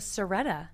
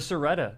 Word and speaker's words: Siretta: The Seretta. The Seretta.